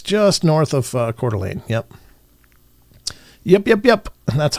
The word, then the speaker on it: Coeur d'Alene: It's just north of Coeur d'Alene. Yep. Yep. That's how you pronounce that is Coeur d'Alene.